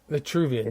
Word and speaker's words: Vitruvian: And they go Vitruvian is spelled it's Vitruvian, right? Vitruvian? No, Vitruvian is like Vitruvi, kind of like virtue. Yeah, virtue. Let me look it up because in English it doesn't carry the R with it. Vitruvian, Vitruvian, I think is it?